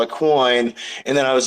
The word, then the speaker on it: Qwoyn: Yeah, that's pronounced Qwoyn.